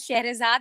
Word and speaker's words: Scherezade: talking to you uh i pronounced my name as sharazad but that's fine that's a very common mistake everybody do with the e at the end i wish all your